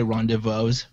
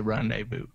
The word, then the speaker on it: rendezvous: I promised a vous I pronounce it you do you say Ron des Vosges I know you say rendezvous I do say rendezvous I have death I